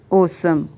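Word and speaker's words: awesome: ये प्रोनाउंस कैसे होगा, ए डब्ल्यू एफ यू L awful और ए डब्ल्यू एस ओ एम ओसम।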